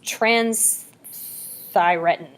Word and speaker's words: transthyretin: see there's a um i always pronounce this not right so it's it's trans thyretin transthyretin okay um quick thing look